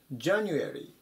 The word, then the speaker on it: January: 番じゃ外歩い january 1 月ですね強く読むところが一番最初になります 1 月に入っ